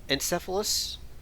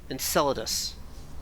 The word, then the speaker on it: Enceladus: all next time when we go to uh encephalus i have no idea how to pronounce that word anymore enceladus enchilada yes okay next time we'll call the